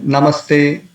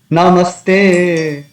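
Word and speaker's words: नमस्ते: So the word is Namas and then Te.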